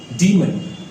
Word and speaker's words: demon: Moving towards next one, that is डीमन। दिखने में तो ये डीमॉन लगता है, DEMON, है ना, लेकिन इसको हम पढ़ते क्या है, हाउ टू प्रोनाउंस दैट, तो इसको हम पढ़ते हैं डीमन।